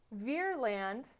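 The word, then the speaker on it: Vreeland: So as a fruit of this panic, one, they blamed Roosevelt, but two, Congress passes something called the Aldrich Ferland, that's how you say it, sure, Ferland Act.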